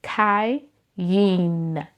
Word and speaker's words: Kayin: So my name is Kin. Two syllables. First syllable is Kai. Second syllable is Yin. And when you put it together, you get Kai Yin.